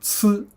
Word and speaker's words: 呲: So now this one has a different pronunciation called 呲.